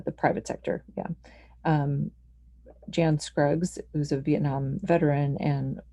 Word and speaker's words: Jan: private sector yeah um jan scruggs who's a vietnam veteran and wounded in in duty someone who's pronounced his name yan anyway the point being